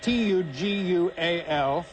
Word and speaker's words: Tugual: Tugwell's Chapel, I don't know how you pronounce that, it's Tugual, find a minimal place for a spot of porridge.